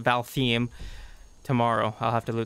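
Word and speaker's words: Valtheim: balthy and god balheim i got it the pronunciation val theme tomorrow i'll have to do that tomorrow i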